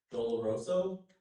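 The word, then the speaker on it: doloroso: Door roso is the only pronunciation I've given here.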